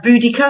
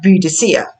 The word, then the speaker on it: Boudicca: The Boudicca, so some people pronounce this as Boudicca, some people pronounce it as Boudicca.